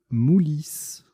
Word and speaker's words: Moulis: en place, nous posons Moulis. M-O-U-L-I-S. Verticalement, on forme Homme, O-H-M, Mao, M-A-O, et Piu, P-I-U. Moulis, qu'on peut prononcer également Mouli.